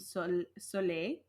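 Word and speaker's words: Saulė: solar god goddess named sole so I'm not sure if I'm pronouncing that right but it has an accented goo on the E so I feel like it's a long e there but anyways it's a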